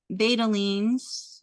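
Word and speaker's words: betalains: Um, you had already talked about the the betalines, which I know I said that wrong.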